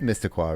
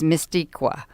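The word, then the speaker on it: Meskwaki: And it is Mistaqua, right? That is the proper pronunciation. Yeah. I think it's... Yeah, because at first we thought it was Mistiqua. Yeah. But it's not.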